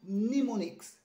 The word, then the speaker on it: mnemonics: talking it is wrong this one is a bit confusing the m is silent you don't have to say no no mix it is mnemonics it is mnemonics okay